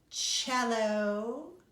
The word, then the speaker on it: cello: Did you say bass, B-A-S-S, and another instrument that rhymes with jello called the cello?